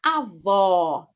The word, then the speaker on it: avó: E avô tem como se fosse um chapéu. Avô. A pronúncia é diferente. A avó, o avô. OK.